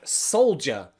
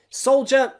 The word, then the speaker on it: soldier: Soldier, there aren't many other words in English with this pronunciation, okay? D-I. D-I, I think this is the only word in English that has D-I pronounced as a J.